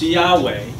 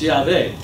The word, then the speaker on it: Yahweh: And so we believe today that it is pronounced Yahweh. Or if you can't say the W, pronounce it as a V. It's Yahweh.